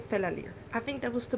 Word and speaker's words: Fela: little tip for you it's fella like a buddy and Le Like lyrics there you got fella I think that was